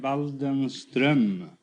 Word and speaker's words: Waldenström: No, it's an umlaut on the O. In Sweden, you pronounce the name Waldenström. Waldenstrom?